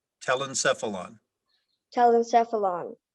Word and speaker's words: telencephalon: telecephalon helen stuff tell himself along am i pronouncing it correctly telencephalon tell them stuff along t e l e